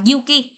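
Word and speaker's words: 行き: Osaka bình thường chúng ta có từ này là từ Iki, nhưng mà đi hướng đến đâu có thể đọc là Yuki nhá.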